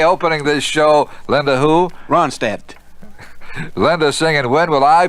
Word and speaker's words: Ronstadt: I think the D is silent, right? I believe Is so. that right, Linda? Linda Ronstadt.